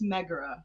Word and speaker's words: Megara: It's Megara, guys. Megara.